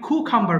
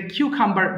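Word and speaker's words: cucumber: কুমড়া pumpkin gourd কুমড়া এরপর খলিফ ফ্লাওয়ার হচ্ছে উচ্চারণটা হবে খলিফ্লাওয়ার ফুলকপি কলিফ্লাওয়ার ফুলকপি কিউ খাম্বার শসা কিউ খাম্বার শসা অনেকে খু খাম্বার বলে হ্যাঁ এটা কিউ খাম্বার বলবেন আপনারা সঠিক হবে কিউ খাম্বার শসা ফি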